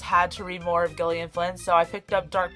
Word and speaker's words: Gillian Flynn: that'd be great number five dark places by gillian flynn and yes that's how you pronounce it because i googled it i had